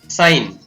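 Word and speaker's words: sign: इसी प्रकार साइन, साइन में भी जी है वो साइलेंट रहता है, क्योंकि GN साथ में है, वहां पर जी साइलेंट रहता है, ये ध्यान रखना है।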